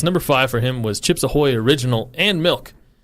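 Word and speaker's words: Chips Ahoy: a chip AO Hoy and I'm like it's chips aoy but he doesn't say it right but I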